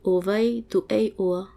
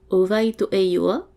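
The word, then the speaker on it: O vai tō ʻoe iʻoa: Prononcer ovai to ei oa. Ah, en fait, je le prononce mal depuis le début, donc ovai to ei ioa.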